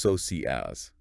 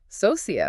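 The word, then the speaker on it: Sosías: And their name Elosius, that's pronounced soas. The stress is on that I. Ah, okay. Socius.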